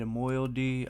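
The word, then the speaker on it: moiety: undivided MTI no Melody we looked this word up last time the T sounds like a d Moy uh his undivided moyal D of new cesaria or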